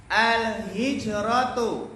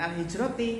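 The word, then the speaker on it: الهجرةُ: Ya, kita baca lagi al-hijratu jami'an. Al-hijratu. Nah, enak ya kalau yang pertama itu baca apa? Domah. Baca domah. Jangan al-hijrati, salah. Al-hijrata, ya, salah gitu ya.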